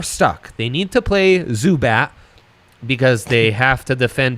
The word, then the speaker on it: Zubac: the last name pronunciation zubac zubat zubat like the uh like the pokemon all right zubat that's almost endearing compared